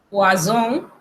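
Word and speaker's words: poison: Si usted ve una sola S en una palabra, se pronuncia como Z, pero si son dos, se pronuncia como S. Ejemplo, poisson, que es veneno, poisson, que es pescado.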